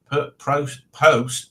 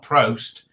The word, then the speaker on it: post-traumatic: Yeah, post, not prost.